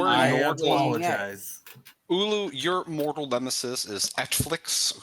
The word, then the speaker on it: Ulu: So, am I pronouncing this right? Ulu? U-L-U? Yes, you're Ulu.